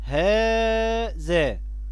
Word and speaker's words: هذا: الكلمات الخمسة دي فيها حرف ينطق ولا يكتب، هذا. لو لاحظنا ان فينا مد بعد الهاء لكننا بنكتبهاش بالمد، بنكتبها بهذا الشكل، هذا، هاء ذا الألف.